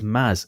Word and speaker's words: Mads: Hawking and I think the correct way of pronouncing mads in Danish is Maz so it's basically me